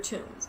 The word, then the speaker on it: Toombs: Her name is Leota Toombs. Granted, it's spelled Toombs, but still, you can't make it up.